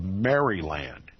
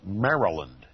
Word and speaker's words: Maryland: my my pronunciation of Maryland most people call it Maryland I call it Maryland it was the Roman Catholic Colony it was named after the Virgin Mary and although it espoused